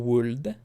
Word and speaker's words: would: Like, nobody says should or would. The L is silent.